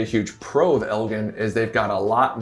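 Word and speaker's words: Elgin: in East Austin is Elgen so it's not pronounced Elgen again I don't want you to embarrass yourselves here it's Elgen hard G people who live in Elgen are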